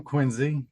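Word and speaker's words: Quincy: So, uh, I'm from Quinzy. Nice. And that's with a Z, not a C. And uh that's how you know you're from really from Massachusetts when you pronounce it that way.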